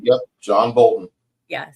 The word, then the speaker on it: Bolton: Yep, John Bolton. Yeah, said it right. I just want to make sure I pronounced it right.